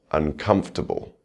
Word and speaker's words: uncomfortable: Now we'll try adding a prefix, uncomfortable. The stress remains on that second syllable.